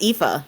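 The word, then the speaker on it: Aoife: One of them, Mother Alf, uh, it's actually pronounced Epha, believe it or not. Okay. Yeah. It's Irish. Irish is weird.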